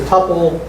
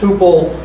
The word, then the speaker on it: tuple: The technical guys say it's a tuple, sometimes pronounced tuple, because it contains unstructured data.